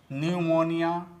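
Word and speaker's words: pneumonia: तो दोस्तों, आपको भी साइलेंट लेटर पी से बने शब्दों का इसी प्रकार से प्रोनाउंसिएशन करना चाहिए। दोस्तों, अब आते हैं इसके स्पेलिंग पर।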